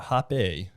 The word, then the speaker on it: Hape: I'm here with the Hape. Is that how you pronounce it? It is French. Hape.